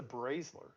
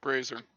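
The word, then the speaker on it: brazier: it's called now yeah it sounds like you're putting an l in it i don't know i've always pronounced it that way i'm sorry it's a b-r-a-z-i-e-r yeah bracelet didn't know what it was there's no l there's no l where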